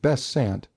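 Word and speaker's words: Besant: of missing the illustrious Annie bant pronounced best Sant for teric reasons the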